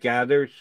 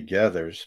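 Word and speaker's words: Geathers: g-a-e-t-h no i think it's g-e-a-t-h gethers that's gathered but pronounced more like gathers um i don't know tell you the truth um i think it's just jumpy gethers but uh you know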